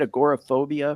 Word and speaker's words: agoraphobia: and video about his mom who has a a gor phobia I think is that how you say it agoraphobia yeah yeah and he he you know I